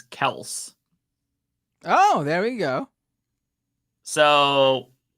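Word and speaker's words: Kelce: citing Travis himself says the pronunciation is Kel oh there we go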